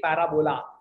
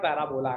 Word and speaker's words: parabola: The way to pronounce it, many people in India pronounce it very incorrectly, parabola. It's not parabola, no. It's parabola. Parabola. Everybody please pronounce it once.